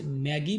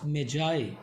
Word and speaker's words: Magi: The Gift of Magi में जो last word Magi है, इसको सम टाइम कुछ स्टूडेंट्स टीचर्स मैगी भी पढ़ते हैं, बट the real and exact pronunciation of the word is Magi.